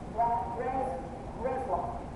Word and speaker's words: Breslau: Breslau.